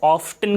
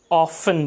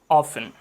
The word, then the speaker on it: often: सो हम इसको ऑफ्टन के बजाय ऑफन बोलेंगे। This is ऑफन।